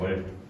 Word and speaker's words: 월: 이 친구가 발음이 음이 월이에요. 월. 오케이? 근데 중국 원음 발음에서는 이게 약간 이 디귿 발음이 있는 거야.